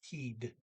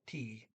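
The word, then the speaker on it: tid: I didn't pronounce the D, but it's one time you do pronounce the D in the word time, T-I-D. It is teed, not tea.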